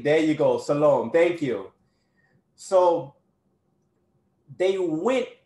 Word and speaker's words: Salome: Who did Herodai, I'm not pronouncing it right. I don't want to butcher it. But who did the mother, Salim, there you go, Salome, thank you.